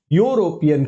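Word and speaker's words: European: लेकिन इ का उच्चारण ना करके यूरोपियन कहते हैं आप यूरोप और यूरोप से यूरोपियन तो ये जब भी कोई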